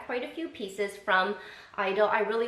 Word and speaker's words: Idyl: you're not new to Idol and I think it's pronounced Idol I hear some people say ideal I've heard someone say idle so I like to